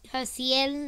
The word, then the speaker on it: Haciel: My name is Haciel. That's how you say it in freaking Spanish.